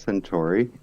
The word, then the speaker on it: Senturi: choose this name for yourself okay so it's pronounced century and honestly i have no idea why i